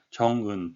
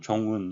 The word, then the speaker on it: Jong-un: 우리말로서는 이름이 그렇게 되지 않으리라 생각이 될지 모르겠지만 외국 사람 입장에서는 이걸 나누게 되면 존, 건이라고 되는데 실제로는 정은 또는 종은 이런 식으로 하게 되려면 이 사이를 꼭 띄워서 이렇게 나눠서 발음을 해달라는 그런 표시가 되겠습니다.